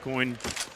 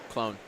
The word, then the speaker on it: Clone: Maybe they swap the AWP back towards Bauer's side, but seems like Coin, if that's how you pronounce his name? Clone. Coin? Clone. Clone. Oh, it's a little L.